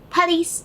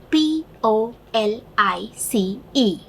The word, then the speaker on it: police: When a person says the police are called, the police, Police is the word with the spelling Police. It is in general in an Indian manner pronounced as police. But the correct pronunciation is police.